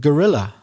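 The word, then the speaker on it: guerrilla: ations is the word gorilla the big monkey I'm not talking about the big monkey but it sounds the same doesn't it if I write it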